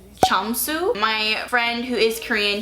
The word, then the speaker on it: Jamsu: this name again but I believe you pronounce it as chamu my friend who is